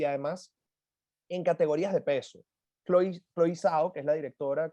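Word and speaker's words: Chloé Zhao: Chloe Zhao, que es la directora, Chloe Zhao, porque así es como se pronuncia, se ha llevado el premio y vamos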